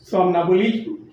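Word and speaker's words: somnambulism: तो हम यहाँ पे देख रहे हैं कि हमारा जो पहला वर्ड है सोमनाबुलिज्म, हमारा जो पहला वर्ड है वो है सोमनाबुलिज्म। सोमनाबुलिज्म, एम साइलेंट है, सोमनाबुलिज्म नहीं होगा, एम साइलेंट है, सोमनाबुलिज्म, जिसका अभिप्राय होता है एज ए नाउन निंद्राचर।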